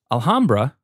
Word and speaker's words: Alhambra: Alhambra, and I will say it correctly this time, is awesome because it is very competitive.